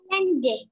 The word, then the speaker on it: island: Island. Chưa đúng. Island. Chưa đúng luôn, không có chữ S nào cả. Yeah. Và là nhấn âm 1.